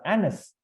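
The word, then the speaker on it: Agnes: and her original name is Anis g is silent a-g-n-e-s and this is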